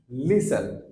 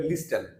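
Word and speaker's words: listen: আমাদের most common ওয়ার্ডস লিসেন লিসেন আমরা প্রায়ই বলি কিন্তু আমরা টি এর উচ্চারণ করি না আমরা বলতে বলি না এরকম করে লিস্টেন লিস্টেন হয় না সো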